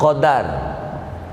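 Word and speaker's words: قدر: Kalau qafnya fathah, dalnya fathah, qadar.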